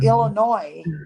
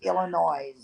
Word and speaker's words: Illinois: don't know what yeah well Illinois doesn't you don't pronounce the S on the end of that either and so many stupid ass people call it Illinois excuse me there's no such place is Illinois Jesus so funny did they